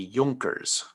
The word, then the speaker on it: Junkers: of prussia and he is supported by the yonkers because jays are pronounced like wise in german as well so the junkers he is supported by the wealthy land owning